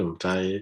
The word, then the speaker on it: Mtai: work okay yeah so the way i'm saying my name is m thai and i'm from kenya